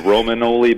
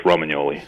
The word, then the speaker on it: Romagnoli: The Americanized way is Romanoli, but in Italian, the GN is like the NY in Spanish, so it's Romagnoli.